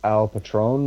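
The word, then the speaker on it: El Patrón: Triple A now uh I'm horrible at pronouncing it it's I think it's Al Patron or is that how you pronounce it okay yeah which translates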